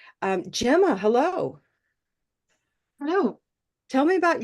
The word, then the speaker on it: Gemma: In terms of the vowel, I sometimes get Jimma or. That's probably the most common mispronunciation of the vowel. But normally I hear it's the consonant actually that gets mispronounced. I get a lot of Gemma, especially from German speakers. I get a lot of Gemma rather than Gemma.